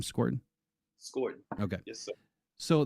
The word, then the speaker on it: Scourton: You pronounced his last name Scorton.